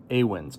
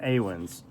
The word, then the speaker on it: Awen: the Kings and the Awins. I think it's Awins. I asked Robbie. It was a long time ago and it is late at night. So I think it's pronounced Awin.